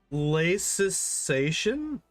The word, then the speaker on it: laicization: Laicization? Is that how you say that? Hold up. How do you say this word? Laicization. Laicization? Laicization. Okay. The 5-syllable word accent on the 4-syllable.